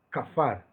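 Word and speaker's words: כפר: Es la letra Kaf, la letra P y la letra Res. Se pronuncia Kafar.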